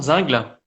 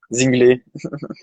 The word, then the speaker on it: Zingel: C'est Axel Zingel, si je prononce bien le nom, Zingle. C'est Zingel. Zinglé. Zinglé, pardon.